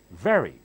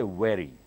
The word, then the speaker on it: very: thanks use us repeat very very quick very very do not say wearing you have to bite your lower lip with the upper teeth and blow out but look very well